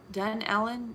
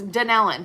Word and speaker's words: Dunnellon: and they say um how do they say it done ellen done um i don't know how they say it but it's dan ellen that's it's danielle that's how you say it all right zuber there's